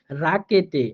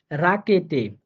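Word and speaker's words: Rakete: আরেকটা হচ্ছে আরটা কখনো কখনো র এর মতো করে হয়, হ্যাঁ বিশেষ করে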